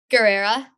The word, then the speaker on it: Guerrera: Guerrera. Guerrera? You pronounce the G? Okay. Yeah. Okay.